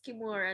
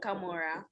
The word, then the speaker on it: Kimora: Yes, it's Kimura, not Kamora.